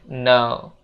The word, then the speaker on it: know: sedikit pengucapan di sini untuk kata no yang artinya tahu ini huruf k itu jangan dibaca ya Guys jangan dibaca KN tapi dibacanya no no gitu guys nah dan untuk